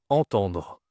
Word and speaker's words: entendre: Entendre. OK. Attention ici entendre c'est une nasale.